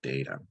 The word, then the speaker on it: data: This is Canada, so the first vowel is long, data.